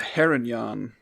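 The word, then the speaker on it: Harengon: guide i wanted to make sure i was pronouncing that right the heronyan so he's a male heronyan rabbit folk i'm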